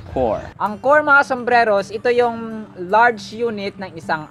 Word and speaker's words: corps: father was once a core commander poor say that with me fantastic core do not be confused with corpse the dead body this one is core core angkorma sombreros large unit